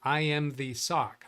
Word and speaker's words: IMZSOC: IMZSOC says, yes, that is the correct pronunciation of the username, meaning I am the SOC, IMZSOC.